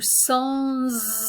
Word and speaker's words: sans: So notice that when the S, this normally silent S at the end of sans, when it's joined onto a word that begins with a vowel, we have a liaison and we pronounce the S.